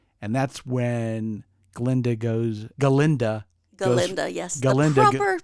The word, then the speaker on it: Galinda: Galinda the proper pronunciation.